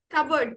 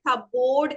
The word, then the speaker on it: cupboard: Cupboard, very good. Okay, അധിക ആൾക്കാരും നമ്മൾ പറയാ cupboard എന്നാണ്. It is not cupboard, it is cupboard.